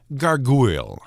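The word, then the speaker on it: gargouille: named a gargoyle or rather to be named garu it's pronounced the same but spelled g a r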